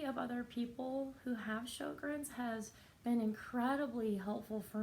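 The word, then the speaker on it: Sjögren's: so the name of the disease is called Sjogren's I will spell it because it's kind of a strange word so it's sj-o GREs Sjogren's I'm gonna talk about it from time to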